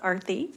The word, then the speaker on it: Arati: It's pronounced Arati.